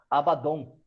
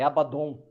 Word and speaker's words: Abaddon: Que se pronuncia Abaddon, tá?